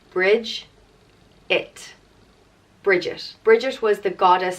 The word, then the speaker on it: Bridget: means power strength vigor and virtue and it's pronounced bridge it bridges bridges was the goddess of poetry back